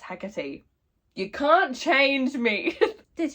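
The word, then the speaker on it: Hecate: also I've just realized I keep saying heck when my little pronunciation guide that came with this book did tell me it's pronounced hecky you can't change me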